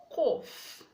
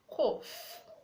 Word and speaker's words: cough: We have cough, cough. Enough, enough. The GH is making the sound of letter F, saying go to letter H.